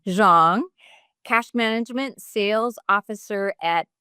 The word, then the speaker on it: Xiong: How do you say your last name? Zhang. Zhang.